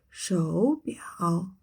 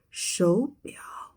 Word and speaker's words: 手表: So we don't say 手表, we say 手表.